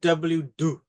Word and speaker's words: W2: But Um, they pronounce it W do, all right? right. Don't say two, it's W do.